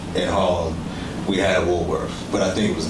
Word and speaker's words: Woolworth: So you obviously, and we can fast forward to the Woolworth incident. You say you're from New York and you're pronouncing that final TH as an F all the time. Woolworth.